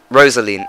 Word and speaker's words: Rosaline: Rosaline, that's it, I said it right.